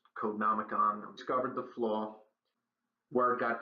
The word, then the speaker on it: Codenomicon: Eventually, members of a Google security team and the Finnish security company, I believe it's pronounced Codenomicon, discovered the flaw.